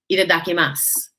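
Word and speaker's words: いただきます: lovely meal and i look forward to saying itadakimasu to you when we sit down there that is how you pronounce the word it's basically their bon appetit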